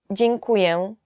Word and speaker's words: Dziękuję: Dziękuję. Thank you. Dziękuję. Dziękuję is just thank you. Yet it's quite difficult to pronounce.